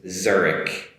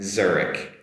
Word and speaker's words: Zurich: Uh the English pronunciation is Zurich Zurich Zurich. Try that one. Zurich Get that “z” sound at the beginning and also a “k” at the end as well there.